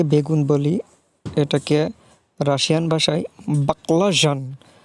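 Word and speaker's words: баклажан: তাহলে বাকলা যান বাকলাজ উচ্চারণটা কিছুটা নাকের মধ্যে নিয়ে করতে হবে বাকলা তাহলে উচ্চারণটা হবে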